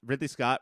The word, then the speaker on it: Ridley Scott: tonight they Ridley Scott Ridley Scott rhymes with diddly squat we did yeah that